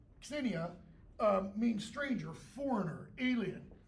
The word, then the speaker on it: xenia: In Greek, the word xenia, you pronounce the X like a X, xenia, means stranger, foreigner, alien.